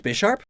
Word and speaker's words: Bisharp: my team would be a dread plate wielding B Sharp isn't it pronounced Bisharp what because of the chess piece what about